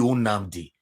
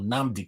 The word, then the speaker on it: Nnamdi: Not be Unamdi. Like some people want to pronounce Kanu name. Now they'll say Unamdi Kanu. Not be Unamdi Kanu. Namdi Kanu. Namdi.